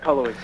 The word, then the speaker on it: Cullowhee: What are we even close in pronouncing the name of your town? Is it Cullowhee? Yeah, you got it, Cullowhee.